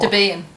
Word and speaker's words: Debian: Debian. Well, the guy's wife who made Debian was like... He was Debbie, and the system's name is based off Debbie, so Debian.